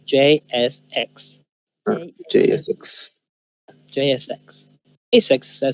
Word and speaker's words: JSX: Y cuando digan rápido van a decir JSX. JSEX. J6. Sí. Generalmente van a escuchar que digan JSEX. J6. JSEX. Pero la pronunciación correcta es JSX.